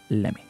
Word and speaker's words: lemme: But the most natural form, the most American way of pronouncing these two words is lemme. Lemme.